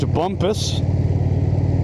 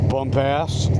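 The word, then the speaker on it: Bumpass: Pronounced Bumpus, but obviously Bump-ass tends to be how you may choose to pronounce it.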